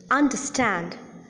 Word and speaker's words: understand: The similarity is that in all these words that I have just now mentioned, disappoint, entertain, understand, decompose, the last syllable or the third syllable is the most prominent syllable. Hence, the last syllable receives the primary accent.